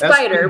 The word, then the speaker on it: SPDR: oh I keep say I pronounce I just say spider I don't even think about the acronym it's spider but it's spelled a little different yeah spdr for the